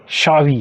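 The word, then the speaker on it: Xavi: Villa को विया पढ़ते हैं, ZAVI जावी नहीं है, शावी है।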